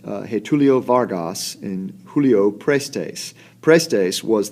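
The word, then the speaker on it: Getúlio Vargas: At the same time, a new presidential race was looming between, I believe it's pronounced, Getulio Vargas and Julio Prestes.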